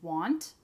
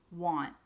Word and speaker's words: want: However, when we do pronounce want, we rarely pronounce it with the T at the end. Usually we cut it off and we say want.